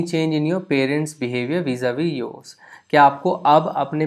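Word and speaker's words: vis-à-vis: तो normally French में आप देखते हो कि जो लास्ट कॉन्सोनेंट होता है उन्हें प्रोनाउंस नहीं किया जाता है, वो बेसिकली साइलेंट रहते हैं. इसीलिए इस पर्टिकुलर वर्ड का प्रोनाउंसिएशन vis-a-vis नहीं है, vis-a-vis है. सो जब भी आप इसको बोलें तो वीज़ा वी बोलें, बिकॉज अगर आप सोच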